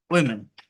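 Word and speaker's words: women: এটা যদি প্লুরালে হয় একই স্পেলিং থাকে বাট উচ্চারণটা চেঞ্জ হয়, যেমন এটা হচ্ছে এরকম ওয়েমেন, ওয়েমেন, ওয়েমেন, এই হচ্ছে সাবজেক্ট।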